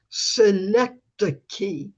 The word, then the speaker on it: Synecdoche: And poets live on the outskirts of Synecdoche. I finally learned how to pronounce it.